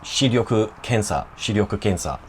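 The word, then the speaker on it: 視力検査: vision test, and it's shiryoku kensa. It's a bit of a mouthful to say that I've always had trouble pronouncing that R-Y-O or the R-Y-U, but practice it enough times and you'll get it.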